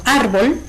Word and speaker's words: árbol: Por ejemplo, árbol es una palabra de 2 sílabas, donde su sílaba tónica es ar.